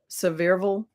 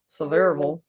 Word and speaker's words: Sevierville: Pigeon Forge, which is, I'll say it wrong, Sevierville, I think is how they say it. Sevierville.